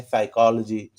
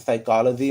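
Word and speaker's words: psychology: यहाँ देखिए है साइकोलॉजी, ठीक है। तो साइकोलॉजी में स्टार्ट तो पी से हो रहा है, ठीक है, पी से, लेकिन ये पी जो हो गया है साइलेंट हो गया है, केवल साइकोलॉजी।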